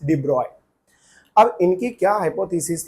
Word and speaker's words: de Broglie: डीबोगली hypothesis इसको अपन लोग डिब्रॉय भी बोलते हैं। इनका पूरा नाम लुईस है। लुईस डिब्रॉय। ठीक? सो लुइस डिब्रॉय लिखने के लिए डिब्रोगली लिखते हैं। लेकिन प्रोनाउंस कैसे करते हैं? लुईस डिब्रॉय।